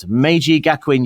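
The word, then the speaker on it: Meiji Gakuin: at uh I just need to check the pronunciation of your university here, Michael, I've got Maji Gakwin University.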